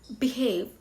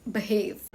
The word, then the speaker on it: behave: Instead of saying behave, say behave.